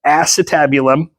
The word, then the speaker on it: acetabulum: got the acetabed one so just think of like ass for your butt that's how we remember how to say this this is the acetabulum and this is just